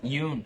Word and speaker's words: Yeun: Yeun.